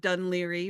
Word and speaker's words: Dún Laoghaire: You've given us a wonderful pronunciation of Dunleary, which is absolutely not spelled that way, but that's the Irish word for it. That's the Irish name for this I, area.